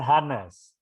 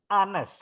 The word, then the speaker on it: Hanes: Tangsel muncul kau Hai bukan hanes hanes huruf h-nya nggak dibaca ah Anne's cost you can help